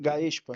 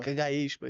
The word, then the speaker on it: Gaexpa: Então, a primeira pergunta é: O que é o eh como é que se se pronuncia? Gaespa. Gaespa.